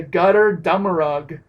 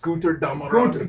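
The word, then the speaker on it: Götterdämmerung: this time, is the Gutter Dummerug release. Guter Dummerug. Guter Dummerug. You got to kind of break the German out for that one.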